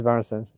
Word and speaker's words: Barnston: Barnston? I always say his name wrong. I feel bad. Because he's got, you know, it is Barnston.